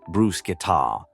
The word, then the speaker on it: bruschetta: I studied Italian for 3 years, and the amount of people who call brusqueta by way of saying bruschetta has started to pain me. It's actually pronounced brusketa.